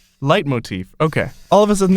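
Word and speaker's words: leitmotif: of a sudden these let motifs you've been hearing throughout the game how you pronounce that motifs okay Google how do you pronounce let motifs light motif okay all of a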